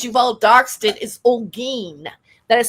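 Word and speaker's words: Olguin: But my maiden name, since you've all darked it, is Olen. That is spelled O L G U I N.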